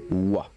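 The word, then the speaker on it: は: Alors, la particule wa se prononce justement comme ceci, mais qui s'écrit ha et qu'on prononce wa.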